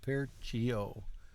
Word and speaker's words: perciò: Percio, got to accent stress the last syllable. Percio.